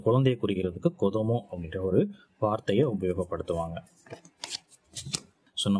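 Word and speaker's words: 子供: ஸோ குழந்தையை குறிக்கிறதுக்கு கொதோமோ அப்படின்ற ஒரு வார்த்தையை உபயோகப்படுத்துவாங்க. சொன்ன மாதிரியே இங்கே கோ அப்படின்ற உச்சரிப்பு கொடுத்துருக்காங்க.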